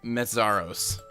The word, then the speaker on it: Meszaros: That's, I think, all Slovakians who have Andre, that's how they spell it. I always have that J. And then Meszaros is M-E-S-Z-A-R-O-S, Meszaros.